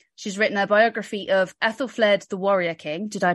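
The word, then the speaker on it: Æthelflæd: women in feudalism she's written a biography of Ethel fled the warrior king did I pronounce the name correctly Joanna you did fantastic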